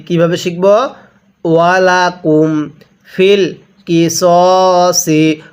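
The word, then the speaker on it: في القصاص: ওয়ালাকুম feel কিসসি। অনেকেই আমরা এটাকে ফিল কিসাসি পড়ি, সদকে সা পড়ি। যদি সদ জবর সা পড়ি তাহলে কিন্তু পড়াটা সহি শুদ্ধ হবে না। তাহলে কিভাবে পড়তে হবে? ফিল কিসসি।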